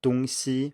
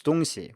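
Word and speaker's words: 东西: point out here that dong si with the first tone on the second syllable as well actually does mean east west and can be used as such too but here it's donxi with a neutral tone on c and that means thing or stuff so even if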